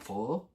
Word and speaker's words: pho: So I don't even say it right. It's like pho. Pho.